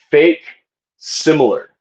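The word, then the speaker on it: facsimile: Uh, it's pronounced fake similar.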